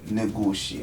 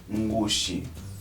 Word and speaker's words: Ngushi: Quando temos um N ou um M antes da vogal, esse M está lá para nasalar o som, como na palavra Ngushi. Não se lê Negushi, lê-se Ngushi.